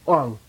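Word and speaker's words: དབང: And it gets strong and high. Wang. Wang. Okay? Wang. Wang. This is the initiation Wang. Okay? Wang, meaning power.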